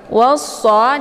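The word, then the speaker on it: وَالصَّلَاةِ: Cara bacanya wawnya dileburkan ke dalam huruf shad ataupun dimasukkan. Dan alif lam ini tidak lagi dibaca.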